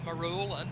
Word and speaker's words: Marulan: So, we haven't been through Marulan yet, have we? Haven't been through where? Sorry. Marulan. Marulan. Maru- Marulan. Ah, Marulan. Maru- That's how you pronounce it.